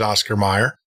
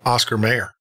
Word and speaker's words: Oscar Mayer: never was well to me it was always Oscar Meyer I remember singing a song a lot of people but it's Oscar Mayer Bernstein Bear Bernstein Bear they're what it is